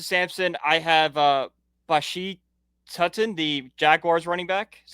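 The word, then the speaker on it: Tuten: I have uh Bashi Tutton, the Jaguars running back. Is that how you say his name? Tooten.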